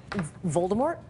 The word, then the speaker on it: Voldemort: heard this one before Voldemort is it do you pronounce it - you're not I just did and you're not supposed to you're not supposed to pronounce the T no more old Harry